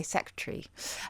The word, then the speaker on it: secretary: So this is a process called haplology, where we swallow a syllable, and it's happened for a long time in words like probably. We say probably. Probably do. Or February, we say yeah. February. Yeah. Or secretary, we say secretary. And it's because of ease of pronunciation.